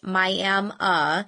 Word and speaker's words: Miami: No, I am from the Miami, pronounced Miami, in the far northeast corner of Oklahoma.